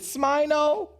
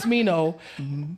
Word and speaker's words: Smino: Is it Smino? No, it's Smino.